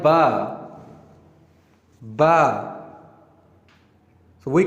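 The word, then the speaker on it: باء: Ba. So we call it Ba. And if we compare it with English alphabet, it sounds like B, like we say B for ball.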